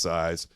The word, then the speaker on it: SZ: So I think that's the reason why it's SZ and phonetically is pronounced size. Andy, what'd you buy?